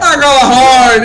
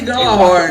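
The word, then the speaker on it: Gjallarhorn: Galahorn! Hey, Galahorn! If you don't know yet, it is my profound pleasure to tell you that Black a Galahorn.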